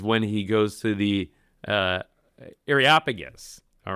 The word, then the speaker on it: Areopagus: Areopagus, saying, by the way, thank you for pronouncing that for me. Yeah, I know. How do you say that? Okay. The Areopagus, the Areopagus.